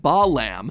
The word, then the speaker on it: Balaam: All three of them, Bael, Pie Man, and Ba lamb, are phonetic ways of pronouncing the names Bael, Paimon, and Balaam, three king demons from the Ars Goetia.